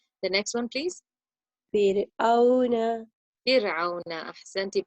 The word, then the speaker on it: فرعون: Fir'auna. Ahsanti. Pronounce your. The word didn't sound right because your ayn wasn't pronounced from the middle of your throat. Fir'auna.